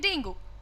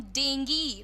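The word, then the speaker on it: dengue: का नाम है जैसे हम सब बोलते हैं डेंगू राइजेज अगेन हम उबलते हैं पूरे कॉन्फिडेंस से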